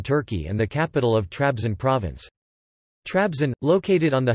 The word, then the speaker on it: Trabzon: Trabzon, Turkish pronunciation, Tebizan, historically known as Trebizon, is a city on the Black Sea coast of northeastern Turkey and the capital of Trabzon province.